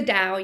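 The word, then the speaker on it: Tao: is all about the type you can probably pronounce it properly is it the dow di ching or the tau de chi the dao yes yes the dao which is actually interesting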